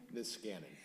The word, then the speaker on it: Niskanen: Pronounce it for me again? Niskanen.